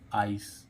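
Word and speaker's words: ice: ई तो शुरू में आई आने पर इसका उच्चारण क्या आ रहा है आई हो रहा है आई आइस आइस है ना आइस ठीक है आइस और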